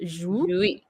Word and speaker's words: Jouy: So it looks like it's just 1 syllable, but I would pronounce this almost as 2 syllable. Jouis. It sounds like 2 syllables, but like to me it sounds like 2 syllables because I'm saying the jouis and then the e almost separately, but all together it will become toile de jouis.